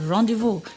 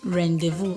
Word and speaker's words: rendezvous: okay examples are rendezvous rendezvous is actually a french word and it is pronounced as rendezvous not rendezvous or rendezvous okay you